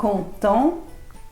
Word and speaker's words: content: ตั ว ท้ า ย ชั ด ๆ Content, contente.